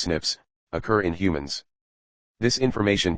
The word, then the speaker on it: SNPs: Bas DNA differences snps single nucleotide polymorphism pronounced as Snips occur in humans this